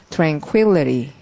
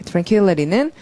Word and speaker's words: tranquility: 발음은 tranquility. 예, tranquility는 자, 조용하다라는 스펠링 quill이 있고 트랭이 강조해줘서 tranquility 이거 자꾸 공부하면 좀 졸음이 올것 같죠?